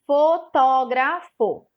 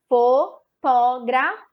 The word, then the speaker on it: fotógrafo: Fotógrafo. Fotógrafo. 4 sílabas. A sílaba que destacou, que eu falei mais forte, foi a sílaba tó.